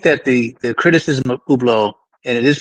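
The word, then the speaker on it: Hublot: I I would like to say that I I think that the the criticism of Ublo and it is pronounced ublau if it's French is that it's multiffactorial.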